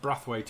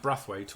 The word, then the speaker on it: Braithwaite: on the bench heed spelt Braithwaite but it's pronounced breath wait apparently don't wife's pretty expelled Braithwaite but pronounced breath wait why is it not